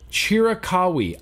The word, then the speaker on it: Chiricahua: Chiricahui. That's how you pronounce it. Chiricahua.